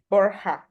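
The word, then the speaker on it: Borja: help you pronounce it Bor borha yeah yeah if it's difficult for you you can use Bor usually English speaking people just call me Bor but it's okay all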